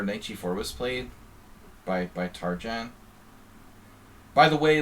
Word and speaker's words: Tarjan: But actually, if you want to be correct, it's Tarjan with the European J sound. It's a city, it's a town in Hungary. It's a Hungarian name, but he doesn't use the Hungarian pronunciation.